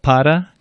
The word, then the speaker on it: para: R is like an English D, but it's softer than an English D in many cases. So the muddy or eddy, the D in the middle of muddy or eddy, is what a Spanish R sounds like. For example, para, cura, pero.